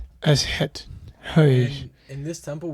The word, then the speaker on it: Aset: She is known today by her Greek name Isis. However, the ancient Egyptians called her Aset. That's it. It's wonderful pronunciation. Aset.